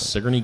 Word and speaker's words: Sigourney: first time this is my first time in sigy so did you know it was pronounced sigy Sig I did all right you weren't going